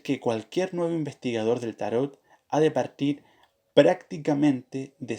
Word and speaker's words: tarot: podemos afirmar es que tarot es una palabra francesa y que la última letra de no se pronuncia aquellos que insisten en